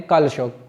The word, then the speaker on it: कालाशोक: इसका नाम था कालाशोक अब जब इसको उच्चारण करते हैं कालाशोक तो यह कालाशोक मिलता है ठीक है और महविश